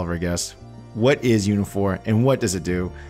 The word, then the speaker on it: Uniphore: guest we have the co-founder and ceo of unifor that is spelled u-n-i-p-h-o-r-e um welcome to the show albert